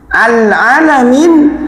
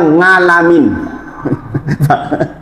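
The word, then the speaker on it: عالمين: Alamin semesta alam pakai ain. Orang Cilaca bacanya ngalamin.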